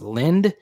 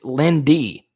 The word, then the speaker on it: Linde: correctly, it says Dennis Lind. No, is Lindy. Dennis Lindy. So I wasn't even honoring this guy correctly. Dennis Lindy, according to Wikipedia. Lindy. It's spelled Linde, but it is Lindy.